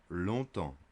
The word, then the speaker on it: longtemps: For a long time, longtemps. The G is silent. Longtemps.